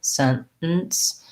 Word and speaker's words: sentence: so sentence sentence um you might find it easier to use a real t but most americans are going to use a stop there sentence they go from the n they stop it and then they do kind of another syllabic end here so it sounds like scent where they basically drop out um that vowel after the t as well um similarly like mount